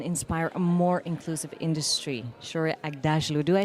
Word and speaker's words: Shohreh Aghdashloo: You followed it phonetically and that's the right way of doing it.